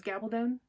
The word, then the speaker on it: Gabaldon: say it gavin gabaldon i think we decided it was gabaldon um i'm pretty sure someone said rhymes with stone so anyway um the new